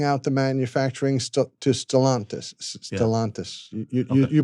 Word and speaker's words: Stellantis: Stellantis. You pronounced that one right, not me.